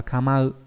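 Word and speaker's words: 構う: Kamau là chữ cấu đấy, đọc là kamau.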